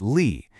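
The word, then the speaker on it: 里: And to finish it off, we have Lee, pronounced Lee.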